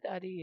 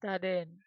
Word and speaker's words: Dadin: It's not daddy. It's Dadin.